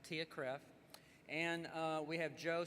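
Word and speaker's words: TIAA-CREF: the longest acronym so t-i-a-a-c-r-e-f I think it's pronounced Tia Cref and uh we have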